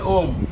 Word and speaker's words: ওম: এবং যেমন বৌমা বলেছে ওং, ওং না কিন্তু ওম। ওম শিখে যাও আজকে। ওম মানে অ উম, অ উম, এই তিন শব্দের মিলন হচ্ছে ওম, যেটা আমাদের বৈদিক শাস্ত্রে বলা আছে।